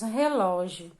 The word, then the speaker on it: relógio: Então, qual é a sílaba? É o ló, né? A segunda sílaba da palavra relógio, que é a mais forte.